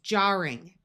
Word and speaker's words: jarring: We add the suffix ing and even though there are two rs, it still keeps the r sound. So this is jarring.